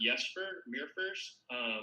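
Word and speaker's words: Jesper Myrfors: Yeah, and I think that that's wonderful, the way that I believe it's pronounced Jesper Mirfors.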